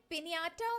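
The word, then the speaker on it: piñata: तो ये पिनियाटा word Spanish से आया। और देखो जरा इस वर्ड के ऊपर भी मार्क लगा हुआ है।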